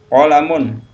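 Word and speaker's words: قَلَمٌ: Raffi batun diatas kemudian qolamun penak qolamun qolamun Jadi kalau nggak ada tanda panjang jangan dipanjangin ya kalau namun pena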